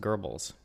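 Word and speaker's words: Goebbels: Gobble also linked his anti-semitism to his anti- capitalis pamphlet that we see in the Hebrews, the incarnation of capitalism, the misuse of the nation's goods. It's pronounced gerbles.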